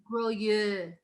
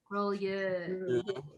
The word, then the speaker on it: Grolleau: Can you pronounce this for us again? GROLLEAU. All say it together. GROLLEAU.